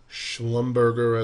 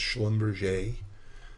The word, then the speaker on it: Schlumberger: Hess 50-day potential resistance Schlumberger as my friend calls it even though it's pronounced schlum 50-day moving average here